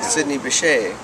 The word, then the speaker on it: Sidney Bechet: Well, you know, Sidney Bechet.